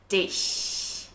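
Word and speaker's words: dich: mouth back as if we're trying to smile and Press air between the gap of your teeth just like an is and Dish the other thing we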